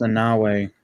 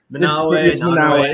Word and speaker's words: Nanaue: I think it's pronounced Nanue. Nanue.